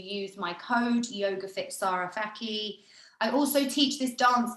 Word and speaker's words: Fakih: Yeah, my social media, well, we're on IG, but Sara _ Fakih, which is pronounced Fakih, as it's always really hard to pronounce.